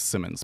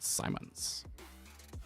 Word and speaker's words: Simons: Jim Sim because I always say it wrong and I I think it's Simmons, but I'm I'm pretty sure it's pronounced Simons.